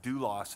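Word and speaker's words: δοῦλος: And that word there is a word called pronounced doulos, and it just means a bond slave, somebody who willingly said, I will be your servant for the rest of my life.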